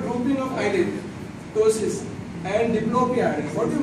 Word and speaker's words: ptosis: It is called ptosis. P is silent, it's ptosis.